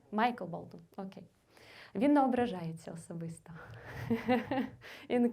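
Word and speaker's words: Michael Bolton: кейнер Джеймс Бах і Мішель Болтон як його правильно вимовляти так Майкл болton Окей він неображається особисто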